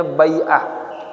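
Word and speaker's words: بيعة: Wa akhadallahu alaihim al-bai'ata, bacanya bai'ah. Ya, kalau bi'ah pakai hamzah, lingkungan, ini bai'ah.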